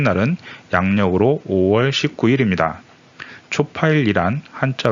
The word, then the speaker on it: 초파일: 번째 8일 이라는 뜻입니다 촉 8 이라고 읽어야 하지만 석가탄신일을 뜻할 때는 초 파일로 읽고 파리 를 뜻할 때는 초 8일로 읽습니다 음력 이기 때문에 매년